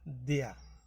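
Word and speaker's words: der: হলো এটা দেয়ার কিন্তু এটার অরিজিনাল উচ্চারণ হইলো দেয়া তো এখন এজন্য আপনাকে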